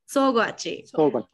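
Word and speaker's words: Sōgwachi: How do I pronounce that? Sougwachi.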